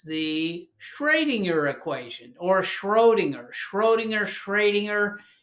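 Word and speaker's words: Schrödinger: shringer equation or schinger Schrodinger shringer it's hard to pronounce that because it's German it's got an uml out over the O so the shringer equation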